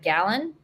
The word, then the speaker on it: Galan: Galan.